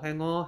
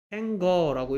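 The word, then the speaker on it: hanger: 여기 나오네 일단 시계쪽 행어 행원지 행거라고 읽지 않습니다 싱거라고 읽지 않죠 싱어 행어 행어 자 행어는 싱어 같아요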